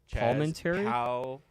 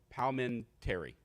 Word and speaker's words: Palminteri: Palminteri? Palminteri. Yeah, the first time I felt like you added an extra vowel in between the L and the M.